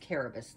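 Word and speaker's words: Cerberus: with the dog caribus it's pronounced caribous not service caribus yes there's also a lot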